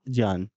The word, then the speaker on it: ज्ञान: इसको ज्ञान भी बोल देते हैं आप, लेकिन ये उच्चारण सही ज्ञान।